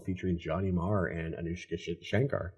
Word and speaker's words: Shankar: our next song featuring Johnny Maher and Anushka Shankar Shakar.